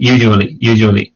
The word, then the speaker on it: usually: Just the problem is when you're speaking like at full pace, at full speed, I think you're not pronouncing the second sound of that word. Like earlier, you said usually.